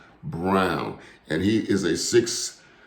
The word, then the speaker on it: Braun: is christian brown now it's spelled braun b-r-a-u-n but they they tell me that he pronounces it brown and he is a